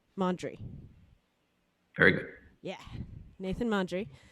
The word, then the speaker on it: Mondry: Nathan, I'm not going to say your last name wrong, Mondry.